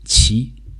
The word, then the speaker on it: 其: character over here in the series it is pronounced XI and its current meaning today is it's his/her